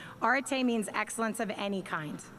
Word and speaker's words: arete: the english language and that's arete some of you might have a different pronunciation of that that's okay i'm using the british british pronunciation orte means excellence of any